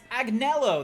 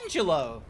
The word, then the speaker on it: Agnello: No, it's Agnello. That's not the same. God, you made me think it was Angelo.